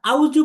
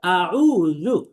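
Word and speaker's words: أعوذ: তাহলে আমরা আউজু পড়বো না, আউজু না, বরং পড়তে হবে আউযু, আউযু, আউযু, আউযু, আউযু। হামজা জবর আ, আইন ওয়াও পেশ উ, জাল পেশ জু, আউযু।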